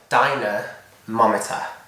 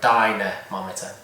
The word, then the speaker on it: dynamometer: I'm pretty sure it's 2 words, dynamometer. I'm pretty sure that's how you know, like the lady's name Dinah, and then a mometer, like a thermometer or a dynamometer.